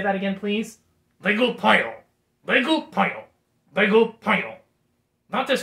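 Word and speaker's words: 배고파요: Baegupayo. Baegupayo. That's how you say I'm hungry in the Korean language. Could you say that again, please? Baegupayo. Baegupayo. Baegupayo.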